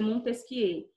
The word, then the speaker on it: Montesquieu: Montesquieu se escreve Montesquieu, tá? Ele era francês, se escreve Montesquieu, mas se pronuncia Montesquieu.